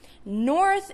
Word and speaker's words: north: North is an exception. Birth is the same So,